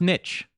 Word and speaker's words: niche: the goddamn dictionary American Dictionary it is actually pronounced niche ok sick and tired of this [ __